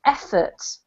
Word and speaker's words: effort: This word here is pronounced effort. Efforts. Yeah, the emphasis on the first syllable, okay?